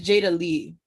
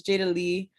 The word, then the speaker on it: Jada Lee: I just got home from work not too long ago, so I've been it's Jada Lee. That's how it's pronounced. No, it's fine though. Yeah, it's Jada Lee.